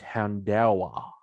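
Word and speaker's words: Houndour: that in the anime i've been calling it hound or apparently it's houndawa ah the articles hound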